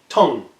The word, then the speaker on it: Tang: call the Tong dynasty that's right spell tang pronounced Tong Tong dynasty now before we get